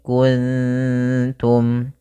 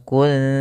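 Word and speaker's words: كنتم: Maka cara membacanya yaitu samarkan nunnya kepada huruf ta. Makhraj daripada ta yaitu ujung lidah kita menempel dengan gusi atas, maka wa in kuntum, ikhfanya ke kaf, wa in ku langsung kuntum.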